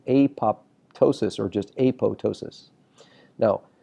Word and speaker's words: apoptosis: it is correctly pronounced a PO ptosis the word pto s is the P is silent now you'll hear a